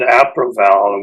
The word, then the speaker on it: Aproval: Actually, we pronounce it Aproval, which means Apricot and Prune Valley, believe it or not.